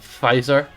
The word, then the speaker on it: Pfizer: I know it's like Pfizer, but why would they put the P on it? Like, it bugs me. It didn't need the silent P.